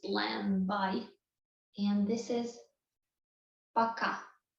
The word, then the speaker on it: пока: And this is пока. Пока.